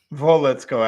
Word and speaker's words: Wolitsko: Wolitsko, actually, it's pronounced Wolitsko. Oh. To be, sorry. Whoops. Got that wrong.